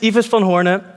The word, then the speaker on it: Ives van Hoorne: over the speakers yeah but my name is eva spell hornet and this is quite a hard name to pronounce it's even hard to pronounce in the